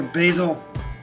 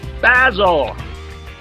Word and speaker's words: Basil: I said, hold it right there, Basil. It's pronounced Basil.